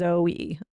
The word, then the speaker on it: Zoe: Okay, I just looked it up and Google says the correct pronunciation is Zoey, such as the Greek word for life.